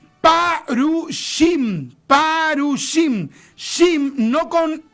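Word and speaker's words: פרושים: Fariseo en hebreo se eh eh se escribe así, parushim, parushim shim, no con c, sino que con s, que es como el cinco, se escribe así, parushim.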